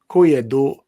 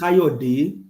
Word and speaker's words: Kayode: I can see Koyedo Oladoyinbo. You say Obi can never be president. Hi, my brother. No, let me pronounce the name for you, sir. His name is Kayode. It's Kayode Oladoyinbo.